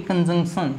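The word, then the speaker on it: conjunction: Preposition, फिर से बोलो भाई, प्रेपोजिशन, प्रेपोजिशन, कंजंक्शन, इसको ध्यान से बोलना, यहाँ पर ये जो एन है ना ये साइलेंट नहीं होता, ये बोला जाता है, तो क्या कहोगे भाई, कंजंक्शन, क्या कहोगे साथियों, कंजंक्शन।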